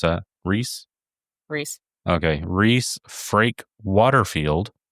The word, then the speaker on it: Rhys: pronounce that? Reese.